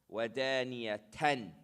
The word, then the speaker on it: ودانية: I pronounce this noon sakin clearly. ودانية.